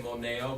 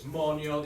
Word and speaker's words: moneo: Monio with the E works. We don't need to drop it because it does have that people say moneo, but it's monio. The accent's on the first part.